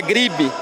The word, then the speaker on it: Griebe: A pronúncia é Griebe.